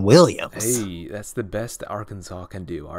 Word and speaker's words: Arkansas: let's stay Arkansas Arkansas yeah that's how you pronounce I know it has Kansas in theirs but it's not Arkansas its Arkansas that's that means you are multiple that makes